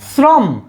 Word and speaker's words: শ্রম: তালব্যস তাইলে সেই জায়গায় যদি তালব্যস তাইলে দেখো শ্রম শ্রম শব্দটাতে কি দন্তস্বর উচ্চারণটা কিরকম হচ্ছে ছ এর মতো না শ্রম